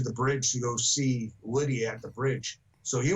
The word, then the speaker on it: Lydia: we realized what hey we're saying it wrong it was Lydia so the banter going